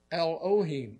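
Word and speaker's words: Elohim: Hebrew word L just it's spelled just like it sounds e l l now there's a suffix on the name there and it's oin L ohim now l means god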